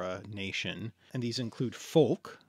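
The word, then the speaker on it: folc: nation and these include Foulke Foulke you can't say that weird anymore it's probably pronounced folk in Old English right okay fol C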